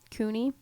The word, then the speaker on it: CUNY: Rick here sent me this article about, it's called City High School Grads at CUNY is how you say it, needing remedial education.